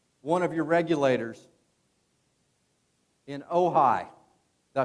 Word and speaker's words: Ojai: We actually got to meet one of your regulators in Ojai.